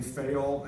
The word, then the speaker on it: Fayol: He's a Frenchman, so I pronounced it the French way. Fayol, F-A-Y-O-L.